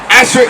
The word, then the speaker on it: Ashtoreth: Ashtoreth is the Hebrew pronunciation.